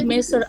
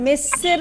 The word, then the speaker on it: مصر: এখানে মেসের, তোমাদের উচ্চারণটা মেসের হয়ে যাচ্ছে, আসলে মেসর, ঠিক আছে?